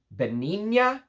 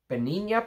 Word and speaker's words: Benigna: heard of it and apparently it's called benigna benina perfumes I guess that's how you say it b-e-n-i-g-n-a Benin must be uh Benin unless it's benigna which that doesn't sound very Royal and exquisite if you ask me